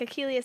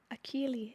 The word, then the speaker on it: Akili: Like Achilles' heel? No, like intelligence in Swahili. Akili.